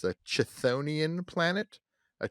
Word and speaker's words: chthonian: it it's a subclass of planet called here it's spelled CH t h o n i a an it's a chthonian planet a chthonian Planet say it with me chthonian Planet uh